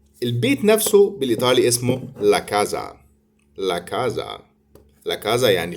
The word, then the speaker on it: casa: ناخد بالنا ان حرف الاس بين اتنين متحرك بيتنطق زد زي الانجليزي بالظبط، فعشان كده بننطقها لا كازا.